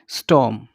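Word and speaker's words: storm: स्टॉर्म। स्टॉर्म means क्या होता है? तूफान। ठीक है। आर साइलेंट रहेगा। इट इज़ स्टॉर्म, नॉट स्टॉर्म, इट इज़ स्टॉर्म।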